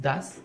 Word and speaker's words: does: Tenemos nuestro sujeto, nuestro verbo, nuestro complemento, pero aquí utilizamos esta parte, este das, la pronunciación es das, ¿no?